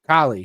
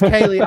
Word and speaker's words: Kaylee: She's probably mad at you because you're pronouncing her name wrong. Dude, listen, I'm bad It's at Kaylee. that. Okay, it's Kaylee.